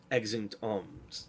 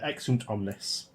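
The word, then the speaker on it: exeunt omnes: Ex int arms. Did I pronounce that right? Uh ex int omnes.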